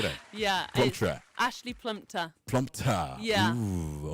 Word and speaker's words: Plumptre: Did I, pronounce that correctly? Come again. Say that again for me. Say that. Yeah. Plumptre.